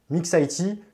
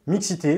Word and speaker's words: Mixit: je vous recommande évidemment la conférence Mixit, Mixit, Mixité, vous prononcez comme vous voulez.